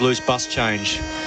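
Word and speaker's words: Labuschagne: it in Africans but I do know his team refer to him as loose bus change and that's probably the easiest way to describe his name labu shag that's correct there you go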